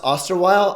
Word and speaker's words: Osterweil: Last name, I believe it's pronounced Osterweil, I think.